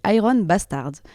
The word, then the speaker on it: Iron Bastards: Violence Iron Bastards, on va prononcer à l'anglaise Iron Bastard est né en 2013, sachant que pendant une bonne année avant, on faisait que des reprises de Motored.